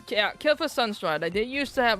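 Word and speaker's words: Kael'thas Sunstrider: Uh, Kelas Sunslider. I am saying that name wrong. Nope, it was Kila Sunstrider.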